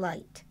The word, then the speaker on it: light: The GH is silent. IGH makes an I sound, like bright and light.